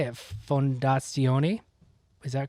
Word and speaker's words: Fondazione: Fondazione. Is that correct? Fondazione, okay.